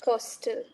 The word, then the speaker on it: coastal: is definitely one major thing you read hostel pronunciation yeah Coastal so be cautious of that that stress sing it too much a coastal okay so it's not costal is postal yeah exactly exactly coastal areas cost